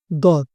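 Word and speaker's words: ض: যে দাল পড়লাম আমরা একটু আগে আর এটা দত এইটাতে এই একই রকম অ হবে কিন্তু এটা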